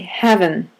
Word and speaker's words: heaven: Seems straightforward, but in this time period, they would say "havin," and havin' is the